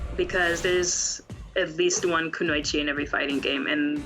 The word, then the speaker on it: Kunoichi: I saw you're a part of the Kunoichi team, if I pronounce it right. Kunoichi? Yeah, Kunoichi.